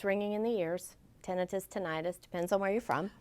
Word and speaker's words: tinnitus: Tinnitus, tinnitus, depends on where you're from. Oh, Dr. Goforth told us an itis is like appendicitis, but an tinnitus is the right way to say it.